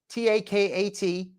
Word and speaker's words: Takat: her name was takat t a k a t that's the um anglicization or the ftiz I guess the phonetic spelling um that's how you say it in English takat and she uh foodie